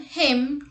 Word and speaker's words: hymn: N is not pronounced when it comes after M at the end of a word. Let's look at the examples. Autumn, hymn, column, solemn, etc.